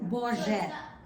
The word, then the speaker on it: Boże: Boże. Borget.